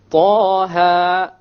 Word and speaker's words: Taha: Okay, both of them are two harakas long, so we pronounce it Taha, Taha. If we were to make it longer, it's a mistake. Ta or Taha, mistake. Each one has to be two harakas.